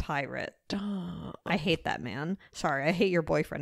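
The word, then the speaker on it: Pyrt: is he doing that it's spelled stupidly it's like p-y-r-t and it's pronounced pirate I hate that man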